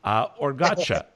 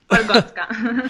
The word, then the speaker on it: Orgotska: going to give it a try, Toyota, Orgacha. You're almost right. Orgotska.